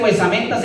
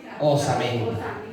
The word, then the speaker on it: osamenta: No se dice huesamenta, sino huesamentaria, pero hay otro término que es más correcto. Osamenta.